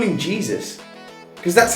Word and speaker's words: Jesus: And it's Manchester City's Gabriel Jesus. Yeah. Jesus? Yeah, Jesus. Why did he never call him Jesus? Because that's how it's spelled, isn't it? But the pronunciation is a H, don't they?